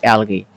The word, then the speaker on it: algae: We pronounce it algae.